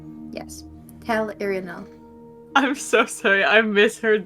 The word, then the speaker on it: Tel'Irinal: Taylor, tell me how you pronounce that name. Tell Irinal. Yes. Tel'Irinal.